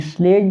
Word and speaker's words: sledge: तो इसमें स्लेज जो है, देखिए ऑप्शन बी इसके लिए सही होगा, यानी कि स्लेज जो है, देखिए स्लेज वो ऐसे लिखा जाएगा, इसमें डी साइलेंट होता है, SLEDGE होता है, जिसमें जो बर्फ़ की